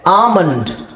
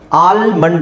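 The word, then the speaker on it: almond: ಗೊತ್ತಾಗುತ್ತೆ ನಿಮಗೆ ಸೋ ಇದಏನಿದೆ ಆಮಂಡ್ ಆಲ್ಮಂಡ್ ಅಂತ ಹೇಳಲ್ಲ ಆಮಂಡ್ ಬಾಮ್ behalf calf com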